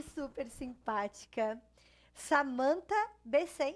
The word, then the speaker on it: Besen: Além de ser linda e super simpática, Samantha Besen, é assim que pronuncia? Samantha Bezen.